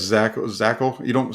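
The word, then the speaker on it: Zakelj: sending into into training camp yeah it's zach zachel you don't say that the j is silent uh in his name so uh i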